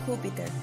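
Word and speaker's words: Júpiter: our solar system in Spanish we call it huper that big red spot is a giant storm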